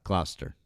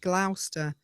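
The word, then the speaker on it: Gloucester: Uh, Glaster. Oh, no. You said it. I thought you said Glouster.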